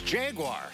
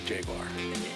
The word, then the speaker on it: Jaguar: But the animal is a Jaguar. Certainly that's how we would pronounce it. Fight nice, boy. British pronunciation. Yes, the British pronounce it Jaguar, just like the Germans pronounce Porsche, Porsche.